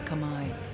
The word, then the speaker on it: Khmer: rivers to nourish the Khmer, the masters of waters. Where else will their rains fall? Oh, it's the Khmer. That's pretty interesting. I would never have thought to pronounce it like that.